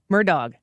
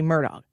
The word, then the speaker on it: Murdaugh: and I was like it sounds like because it's spelled murder I think I felt like if I were just gonna take a stab at it it was going to be Murdoch with a d Hardee and he used the hard g at the end so well the poll